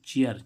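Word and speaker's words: chair: हम जैसे देखें, जैसे कि सी एच ए आई आर, ए आई के बाद क्या आ रहा है? आर, तो इसका उच्चारण क्या होगा? ए आर। ऐसे जैसे कि चेयर, चेयर मीन्स क्या होती है?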